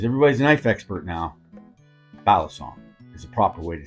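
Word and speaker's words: balisong: the experts because everybody's a knife expert now bison is a proper way to say it if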